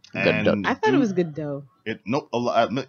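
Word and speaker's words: Gadot: do it nope a misconception first people thought it was good do then it was uh uh uh corrected quote unquote as the do by I think it was Jimmy Kimmel she herself actually pronounced it correctly it's good do her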